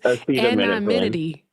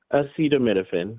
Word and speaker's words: acetaminophen: Acetaminity. How you say it? Acetaminophen.